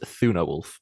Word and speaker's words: Thunarwulf: Is it pronounced Thunarwulf?